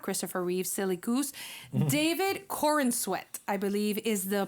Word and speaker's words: David Corenswet: Another thing, the new actor for Superman, his name is not Christopher Reeve, silly goose, David Corenswet, I believe is the pronunciation.